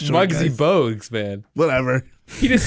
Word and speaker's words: Bogues: Mogs. Reminds me of. Did you say Bugsy Mogs? Yeah. All the It's short Bugsy guys. Bogues, man.